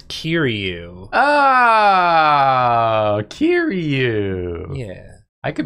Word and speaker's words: Kiryu: It's Kiryu.